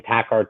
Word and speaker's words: Takhar: first name and last name um it's pronounced like the music but spelt differently it's last name tacar t-a-k-h-a-r you then can make your own decision